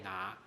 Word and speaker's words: 拿: 要记得客家话的拿跟国语的拿刚好声调是一样的，都是拿，往上升哈。